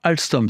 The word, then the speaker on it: Alsthom: Notez bien que même si cela ne s'entend pas, Alstom s'écrit alors avec un H.